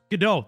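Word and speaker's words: Godot: GDO.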